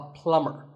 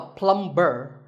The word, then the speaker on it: plumber: house you call him a plumber not a plumb burn the B is silent so plumber in fact